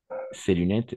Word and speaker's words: ces lunettes: On va prononcer C, ces lunettes, mais oui, et le S à la fin, n'est-ce pas?